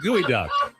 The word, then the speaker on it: geoduck: GEODUCK.